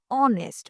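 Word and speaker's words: honest: Spelling H से है। लेकिन बोलते वक्त क्या होता है? ए साइलेंट है। ओके? तो साउंड बन गया ऑनेस्ट।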